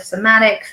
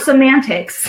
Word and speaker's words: somatics: Somatics, not semantics, somatics.